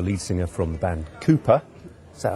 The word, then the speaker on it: KOOPA: singer from the band Cooper is that how I pronounce it Jo that's correct yes Cooper spell with an a a k and an a a k